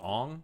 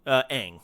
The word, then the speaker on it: Aang: Golden Child, there's a Ong from is it Ong? Aang. Aang from The Ong is the pronunciation in the M.